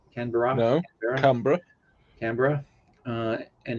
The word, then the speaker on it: Canberra: democracy uh its capital city is Canberra that's pronounced Canberra Ken Veronica Canberra and its largest city is Sydney Australia is